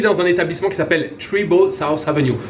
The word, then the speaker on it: Treebo: Je suis dans un établissement qui s'appelle Treebo South Avenue. Treebo, je vais le prononcer en bon français, T-R-E-E-B-O.